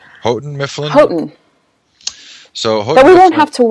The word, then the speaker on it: Houghton: How do you pronounce the name? Houghton Mifflin? Houghton.